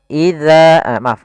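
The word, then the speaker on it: إِذَا: Kemudian pada lafal za, di sini kita baca za, jangan dibaca dengan za. Kemudian ya, jangan dibaca iza waqab. Tidak ada desisan, tapi dia za. Ya, ujung lidah kita menempel dengan gigi sari atas.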